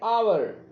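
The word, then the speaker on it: hour: से समझते हैं आवर हॉर्स आवर को हम प्रोनाउंस करेंगे आवर आ एन आवर हॉर्स को हम प्रोनाउंस करेंगे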